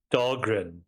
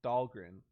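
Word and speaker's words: Dhalgren: Samuel Delaney yeah oh okay how do you pronounce it um Dahlgren Dahlgren okay what's the name um well it's Samuel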